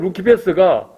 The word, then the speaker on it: Lucifer: 그런데 여기를 보면 라틴을 루키패스가 영어 스펠링으로 보면 똑같아요 luciferr 그걸 라틴으로 읽으면 루키 패스예요 그런데 영어로 읽으면 루시퍼가 되는 거예요 이게 이제 희한한 거죠